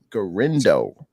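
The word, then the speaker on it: Guerendo: How do you pronounce his name? Last name, Kels? Garindo.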